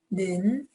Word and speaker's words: 는: Na, 는, it's the u sound.